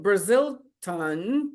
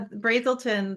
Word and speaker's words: Brazelton: is this the same as or different than brazilton touch points and I may have butchered that word fine yeah Brazelton the touch Brazelton thank you touch Point Center